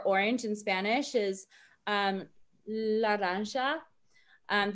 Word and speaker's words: laranja: in spanish is um laranja and the j makes like a sho sound and then amarillo that